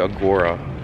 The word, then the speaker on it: agora: in this section uh i kept saying agree but it's actually agora it's a site and